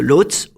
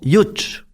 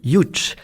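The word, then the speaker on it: Łódź: D'ailleurs, ils se sont connus quand ils sont allés dans l'école de Lots. On alors je vous rappelle que on dit enfin ça s'écrit Lots L O DZ mais ça se prononce Youch.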